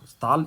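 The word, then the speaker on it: Stahle: तो यहाँ पर आयरन मास्टर उसको कैप्टन वोन स्टाल, स्टाल is your Swedish pronunciation, तो इसको स्टाल हम पढ़ते हैं, तो वो उसको अपने घर में चलने के लिए बोलता है परंतु वो नहीं चाहता है।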